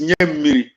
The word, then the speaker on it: Nyamiri: Nyamri is Nyamiri. I mock you when I say, when you call, I laugh when you call me Nyamri, because you are able to pronounce Nyamiri, give me water. Banirua in Hausa, give me water. You don't know how to pronounce it. I pronounce the correct Nyamiri.